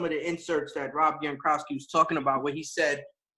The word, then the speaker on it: Gronkowski: Gronkowski. Gronkowski, right?